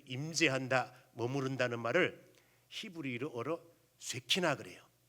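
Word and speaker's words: שכינה: 임재, 그 임재한다, 머무른다는 말을 히브리어로 쇠키나 그래요. 쇠키나. 그래서 요거를 쇠키나라고 하는 히브리어를 영어식 발음으로 하게 되면 쇠카이나 그래요.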